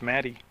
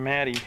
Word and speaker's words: Maddie: walked and singled okay I've been saying his name wrong it's Maddie Jordan maddy is what I just heard Mr shortle Santa even though I asked the coach he told me Matt H what the heck they don't